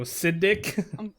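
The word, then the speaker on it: Siddic: say that acidic cedric it's s-i-d-d-i-c so siddik i'm telling him cedric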